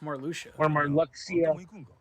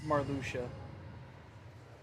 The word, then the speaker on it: Marluxia: do sephiroth or marluxia i thought it was more lucious however you want to pronounce it it's an x in the middle of a name yeah i've heard it